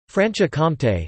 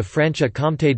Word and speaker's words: Franche-Comté: Franche-Comté, French pronunciation, FKT, literally, free county.